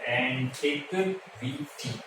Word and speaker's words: antiquity: बेटा इसका जो प्रोनाउंसिएशन है वो है एंटिक वीटी, यानी कि लेट मतलब